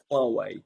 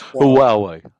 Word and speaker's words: Huawei: And yeah, I mean, people do pronounce it in lots of different ways, but I'll try again, which is Huawei. So it's Huawei, Huawei.